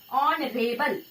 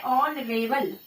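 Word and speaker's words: honorable: फिर है ऑनरेबल मैन, ऑनरेबल, ओ एच जो होता है साइलेंट होता है, ठीक है। ऑनरेबल, ऑनरेबल, ऑ की साउंड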